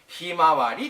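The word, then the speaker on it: 向日葵: Trên thực tế, nó được đọc là "Himawari".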